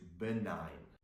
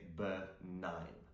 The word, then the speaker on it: benign: Now, the next word on our list is benign. So, the G is silent. We don't pronounce it. We say benign.